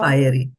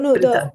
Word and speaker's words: Pṛthā: Mataji, in earlier verse, where you corrected the pronunciation for the Pṛthā. Fiery. No, Pṛthā.